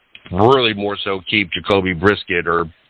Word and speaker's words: Brissett: more so keep Jacoby Brisket, Brisket, I think how you say it, Brissett, how you say his name, Brissett, why we did not